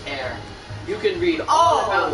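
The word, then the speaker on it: Herr: me shows so oh in german it pronounced air i believe h-e-r-r is pronounced air you can read all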